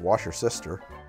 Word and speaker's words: Worcestershire: We're going to do a bit of Worcestershire, and I'm going to use a bar spoon because I know this bottle likes to pour fast. I've been told that it's actually pronounced Washer Sister.